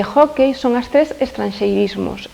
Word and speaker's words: hóckey: unha vogal pechada, IU, que é precisamente o que sucede con hockey, que remata nesa última sílaba, ten un ditongo decrecente EI. Entón, por iso leva acento gráfico na penúltima sílaba.